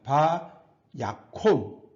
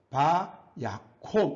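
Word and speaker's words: וַיָּקָם: 바 야콘 이게 카마츠 카탄 닫힌 음절에 액센트가 없을 때에 오 발음이 납니다. 그래서 바 야콘 이렇게 있습니다.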